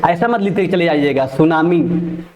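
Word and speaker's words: tsunami: सुनामी। ठीक है? ऐसा मत लिख के चलिएगा। गलत हो जाएगा। टी सु टी लगा दीजिएगा आगे। बल्कि टी साइलेंट होता है।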